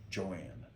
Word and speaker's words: Joan: Joanne. It's spelled Joan, but she always pronounced it Joanne.